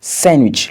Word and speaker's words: sandwich: La lettre D n'est pas également prononcée dans les mots tels que sandwich, le sandwich, Wednesday, le mercredi, handsome, beau.